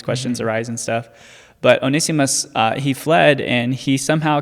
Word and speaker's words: Onesimus: Onesimus, I think is how you say it correctly. Onesimus.